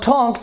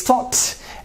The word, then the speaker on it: talked: you'll say what here it is not talked it is thought and it is washed